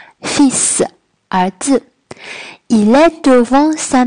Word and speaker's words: fils: fils 在法语中是儿子的意思，并且呢这个 s 要发嘶的音，它的发音也比较的特殊。 fils 儿子。